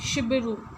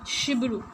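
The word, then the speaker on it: Cibiru: is pronounced as sh shiru it will not be pronounced as chibu here it is written no CH s but it is pronounced as sh Shibu they wanted to invest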